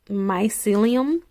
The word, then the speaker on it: mycelium: this is a group of organic mushrooms ok mycelium is how you pronounce it but there's like five different mushrooms